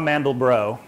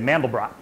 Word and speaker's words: Mandelbrot: The Mandelbrot set is named after a guy named Benoit Mandelbrot, but of course in America we mispronounce it and we say Mandelbrot.